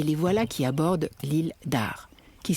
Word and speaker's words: Arz: voilà qu'ils abordent l'île d'ars qui s'écrit à rzd attention on ne prononce pas le z à la fin lille d'art donc concerner aussi les